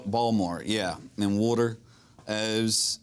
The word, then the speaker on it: Baltimore: accent you're like okay what's that t is not pronounced yeah no balmore yeah and water O's